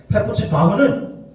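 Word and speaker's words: חֶפְצִי־בָהּ: 여러분, 헵시바라는 말이 정확한 발음을 하면 헤프츠바흐라는 말. 헤프츠바흐는 무슨 뜻이냐?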